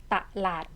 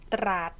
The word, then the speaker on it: ตลาด: ค่ะ มี สระ อะ ตลาด มัน ไม่ ได้ อ่าน ตราด ออก เสียง ควบ ใช่ ไหม คะ เด็ก